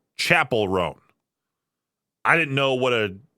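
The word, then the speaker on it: Chappell Roan: It wasn't until recently someone said, hey, it's not Chappelle Roan, it's Chapel Roan.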